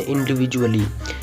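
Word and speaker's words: individually: में ए वोवेल है, तो यहाँ पर भी डी का उच्चारण झ होगा, जैसे इंडिविजुअली।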